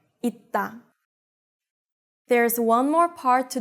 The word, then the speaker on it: 있다: Remember that 받침 쌍시옷 is read the same as 디귿 when it's in the 받침, so you need to remember to apply this rule here, 있다.